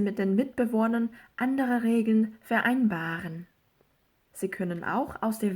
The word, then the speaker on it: vereinbaren: 비분리 동사의 경우에는 강세가 요 전철에 오는 게 아니라 요 다음에 오죠. 그래서 vereinbaren 요게 아니라 vereinbaren 이렇게 발음을 해주는 게 맞다.